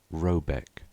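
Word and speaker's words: Råbäck: to be called RAB a e c k pronounced something like robc though that is not its name it is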